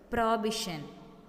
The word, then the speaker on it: prohibition: In this word, H is silent. So we have to pronounce this word prohibition, which means refusal to approve.